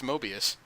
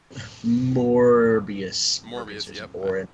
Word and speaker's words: Morbius: me thinking DC's found its mobius Morbius I mispronounced I know and that's my fault Stefan Sedgwick is an